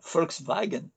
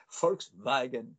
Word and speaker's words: Volkswagen: Web ich mein Lied, première personne du présent au singulier du verbe weben, d'où vient web, web avec W en anglais, mais en allemand ça se prononce V, hein, Volkswagen, hein, les voitures du peuple.